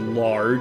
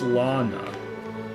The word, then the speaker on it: Lana: That's It's not lard. It's Lana. Was lard with an silent e at the end. That's what it looked like to me.